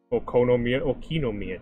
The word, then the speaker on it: Okinomiya: Okinomiya, jeez.